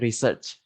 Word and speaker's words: research: So itu maksudnya kayak ngereset, cari riset itu kayak research harusnya ya, bukan riset.